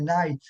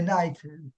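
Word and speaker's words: knight: le chevalier parce que le chevalier c'est night K i GH comme King. Donc en fait ils enlèvent le cas parce qu'on le prononce pas en anglais et donc c'est night.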